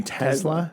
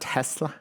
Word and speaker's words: Tesla: as an example, they Are we supposed to pronounce it with like a Z of the S? yeah, I think so. It's supposed to be Tesla? Tesla, yeah. Not Tesla? No, Tesla. I'm sorry, Elon.